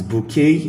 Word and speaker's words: bouquet: We know when in most French word French words that ending that sounds A towards the end, they have the letter T, but they are silent.